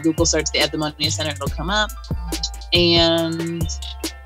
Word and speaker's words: Eudaimonia: The Eudaimonia Center, it's EU, even though it's pronounced EV, but it's Eudaimonia Center.